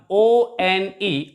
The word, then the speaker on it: one: course it starts with it begins with the letter o which is a vowel but when we pronounce it we pronounce it like one and ver sound is a consonant sound that's why we use